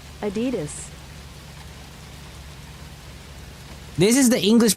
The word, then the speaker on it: Adidas: In German they would say Adidas. Adidas without stressing on any syllable in particular. Adidas. Adidas. Adidas. Pretty straightforward. But in right or American it is generally pronounced adidas insisting or there's there's